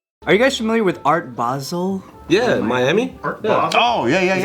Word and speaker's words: Art Basel: I shaking right no it's not basil or basil I specifically looked up people saying it to make sure I was saying it right and they're saying Art Basel all right what about